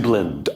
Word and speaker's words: Dublin: So our first one is from Isam, and I apologize if I mispronounce any of your names. Isam from Dublin. In a world increasingly... It's Dublin.